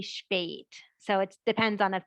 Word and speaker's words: spät: So for example, you would get a short E for the Becker A, But for the word late, S-P-A umlaut T, that would be spät.